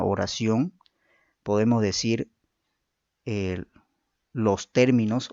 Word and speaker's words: término: El acento es un rasgo diferenciador de palabras que según la sílaba donde se sitúe origina cambios significativos a las palabras. Gracias a la presencia del acento en una u otra sílaba, producimos palabras con significados y funciones distintas.